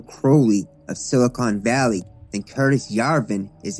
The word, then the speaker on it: Curtis Yarvin: Let's talk about the problem of Curtis Jarvin. Curtis Yarvin.